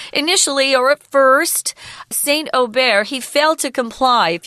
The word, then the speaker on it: Aubert: Archangel Michael commanded Saint Aubert, and that's how you say it in French. It looks like Aubert, but it's not Aubert.